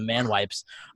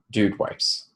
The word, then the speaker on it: Dude Wipes: whether you tribute this or not so the man wipes but now that's going to wear say it right then what did I say he said man wipes what is it dude wipes dude why I'm sorry I by the way